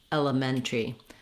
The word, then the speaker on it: elementary: That would sound in this word like mentary, elementary. That can help you get the rhythm and the vowel sounds correct, and also just remember that pronunciation.